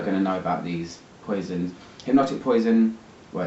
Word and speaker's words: Poison: coming in but the poisons have a kind of special place for me I recently smelled the tundra poison the green one or paisans as it's pronounced in French and again I was